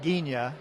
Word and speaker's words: Ghigna: Well, it's Gina, like lasagna, which also ends in GNA.